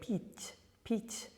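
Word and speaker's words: пить: So when we have the verb to drink, pit, pit, that's a soft one, not brut, but pit.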